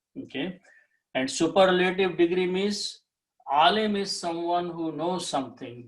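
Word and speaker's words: عالم: If I put alif in between and pronounce alimun, when we stop, we say alim.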